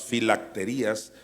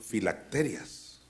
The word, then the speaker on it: filacterias: antes le llamaba las filacterías por alguna razón duré mucho tiempo creyendo que así se decía filacterías no entiendo por qué yo me lo pronunciaba Así cuando ya leí bien en realidad son filacterias o alguien que me